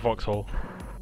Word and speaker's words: Vauxhall: It's pronounced Vauxhall.